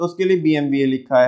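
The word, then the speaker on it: BMW: अब तुम इसे पढ़ते होंगे बीएमडब्ल्यू पढ़ते होंगे, है ना, लेकिन इसका जो प्रोनाउंसिएशन है वो है बीएमवीए।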